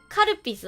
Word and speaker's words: Calpis: It's Calpis. Karapisu. I guess I'll say it in the Japanese pronunciation then.